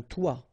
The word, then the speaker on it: toit: Okay, and then both of them are pronounced like toi, un toi, toi.